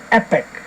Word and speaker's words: Epic: whoa wipe it out it's Epic here it rhymes with weapon which like most of